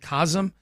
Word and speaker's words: Cosm: Uh I think they I I guess they pronounce it KASM. COSM is how it's spelled.